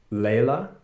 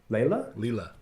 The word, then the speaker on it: Leela: I'm gonna guess, is it Layla? Leela. Come off of mute. Hey. Did I pronounce that right? Yeah, Leela.